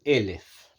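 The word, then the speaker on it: אלף: del 900 se llama en hebreo elef elef es 1000 elef que a su vez se escribe exactamente como la palabra alef que significa alef la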